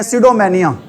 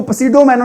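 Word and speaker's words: pseudomania: सीडो मेनिया ठीक है ध्यान रखना पी वर्ड है य पर पी वर्ड क्या अभी साइलेंट है वर्ड क्या है अभी यहां पर साइलेंट है इसको पडो मेनो नहीं बोलना क्या बोलना है आपने इसको सीडो मेनिया बोलना है क्या होता है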